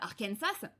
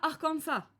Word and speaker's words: Arkansas: compris l'Amérique du Nord appelle ça arkensas alors que les gens qui vivent sur place appellent ça arkansa et du coup là